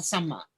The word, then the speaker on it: sama: One is samma and one is sama. They've only got one vowel. And that's why it's really important when you do pronounce Pali, sometimes to avoid misunderstanding, you accent perhaps the vowel or not, or if it's a double consonant, you pronounce it, because otherwise there can be a lot of misunderstanding.